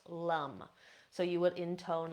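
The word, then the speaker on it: lam: Now each of these is spelled with an A in the middle, so this would look like L-A-M, but in Sanskrit would be pronounced lum. So you would intone lum.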